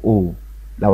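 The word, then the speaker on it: all: زي لو شلت حرف السي كده ونطقت الكلمة دي اسمها اول، اول يعني كل، اول يعني كل، برضو ايه وراها دبل ال او وراها اتنين ال تتنطق او.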